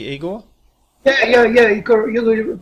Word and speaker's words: Igor: Am I pronouncing your name correctly, Eigor?